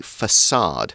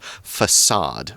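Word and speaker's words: façade: is wavy is the facade now if you see the letter c with that tiny little tail underneath it it's it's pronounced more like an S sound facade rather than facade it's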